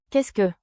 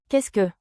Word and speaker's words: qu'est-ce que: Qu'est-ce que? Memory hook, quest Q. Qu'est-ce que? Pronunciation beat, clap with me. K E H S K, K E H S K.